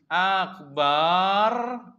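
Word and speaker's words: أكبر: Kalau bar berarti setelah ba itu ada alif. Itu maknanya jauh sekali. Ulama-ulama bahasa mengatakan akbar, akbar gitu ya. Itu artinya ya, akbar bukan jamak tapi ini akbar bacanya bar.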